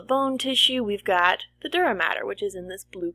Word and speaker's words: dura mater: Okay, and even though it's not spelled like matter, like what we've talked about in other science classes, that's typically the most common way of saying dura mater.